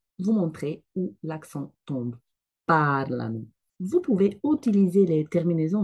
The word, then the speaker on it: parlano: parliamo, voi parlate, loro parlano. Attention, j'entends souvent la dernière personne prononcée comme ça, parlano. Non, l'accent tombe sur la première partie du mot. Donc, c'est pas parlano, mais parlano.